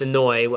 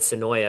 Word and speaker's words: Senoia: It's Senoi. I'm used to calling it Senoia because we all called it Senoia for like 2 years, and then all of a sudden somebody's like, "It's pronounced Senoi."